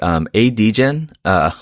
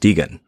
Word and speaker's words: Degen: One of whom is ADgen, which, oh no, I did it again, Derek. Spelled A.degen, and it's pronounced Degan.